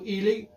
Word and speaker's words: Heley: Uh, Elely. Elely is it. Yeah. Yeah. Yeah. The H the H is silent.